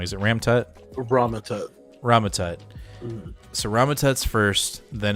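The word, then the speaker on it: Rama-Tut: So every time, so first it's, is it Ram-Tut? I keep on saying it wrong. Is it Ram-Tut? Ramatut.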